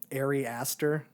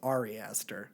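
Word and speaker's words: Ari Aster: then he proceeded to call the guy um Arie Astor which I think his name is Ari Esther so I just I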